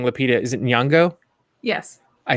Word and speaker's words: Nyong'o: Is it Nyong'o?